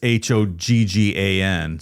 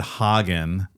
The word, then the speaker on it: Hogan: It's pronounced Hogan, but it's Hogggan. So apparently I said Hagen, like, let me put my hog on your face.